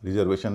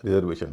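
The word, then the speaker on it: reservation: जी हाँ, रिजर्वेशन नहीं होता, रिजर्वेशन होता है। और उसका कारण भी आप देख पा रहे होंगे, इसमें TION से पहले 3 वावल हैं, 3 वावल हैं, इसलिए आदि का उच्चारण होगा रे। रिजर्वेशन नहीं, रिजर्वेशन।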